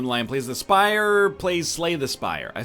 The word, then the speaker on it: Slay the Spire: please the spire plays slay the spire I said that like